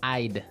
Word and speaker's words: I'd: Yeah, you'll notice that we don't say, I would recommend. Right. We use the contraction I'd I'd recommend.